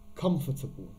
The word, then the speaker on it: comfortable: least six maybe seven students have a problem pronouncing this word i'll say it one more time comfortable then we have courage courageous well done adam